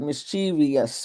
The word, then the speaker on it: mischievous: So the word has three syllables.